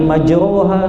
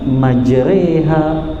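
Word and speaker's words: مجريها: nggak kayak gitu mbak kata ulama ini namanya imalah Apa itu imalah ya bacaannya agak condong seperti e jadi bacanya Bismillahi majreha bukan majora Ya seperti bacaan Alquran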